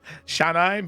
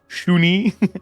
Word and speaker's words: Shanai: I guess I never put how to spell it because her name is Chief Shanai, but he said Shuni.